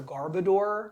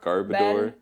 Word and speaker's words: Garbodor: It's actually pronounced a Garbodor. Garbodor.